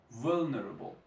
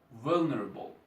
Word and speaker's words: vulnerable: to how to pronounce vulnerable you see I want to show you with with an easy example vulnerable the stress is on the first syllable of the words will neural so the